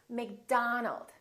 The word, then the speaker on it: McDonald: with the letter o make sure that you don't say oh it's not robert it's robert it's not mcdonald it's mcdonald all right let's practice repeat